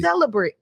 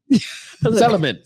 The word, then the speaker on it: celibate: Celebrate. Celibate.